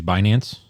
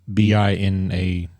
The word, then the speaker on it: Binance: tool, but I use Binance myself. Okay. But anyway, Binance. What is that? How do you spell it? Is BINANCE, like finance, but Binance.